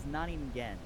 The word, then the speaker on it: Naningen: It is Naningen. Naningen. Yeah, don't worry. It I'm gets mispronounced much more often than I would think, considering I just mashed two well.